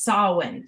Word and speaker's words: Samhain: craft it is spelled s-a-m-h-a-i-n and it is pronounced salwin so now that we've got that out of